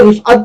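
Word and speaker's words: रिफ़अत: देखिए रिफअत है, इस लफ्ज का प्रोनाउंसिएशन रिफअत है, रफत नहीं।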